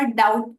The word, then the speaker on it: doubt: वैसे ही हुआ डाउट, DOUBT, जिसमें भी बी साइलेंट हो जाता है और प्रोनाउंसिएशन है डाउट।